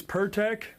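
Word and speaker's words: Pirtek: You pronounce this Pertec? P-I-R-T? Yep.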